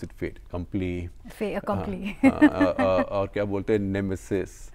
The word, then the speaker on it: fait accompli: How do you pronounce it? Fait accompli. Fait accompli.